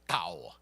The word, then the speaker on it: Tao: do the diphthong, but it's basically D and T kind of rolled together, Tao, okay?